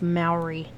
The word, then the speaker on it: Mowry: Despite mentions of its existence, It's pronounced Maori.